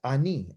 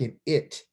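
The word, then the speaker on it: אני: okay so he says ani anee means i so when you're talking to you and i you say this right here is silent this that vowel that you see underneath it that's a vowel point is an ah sound it's a real quick reduced eyes just ah real quick ah and then this letter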